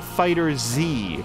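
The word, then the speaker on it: FighterZ: Now, this is pronounced Dragon Ball Fighter Z, right? Is that correct? Because not Fighters.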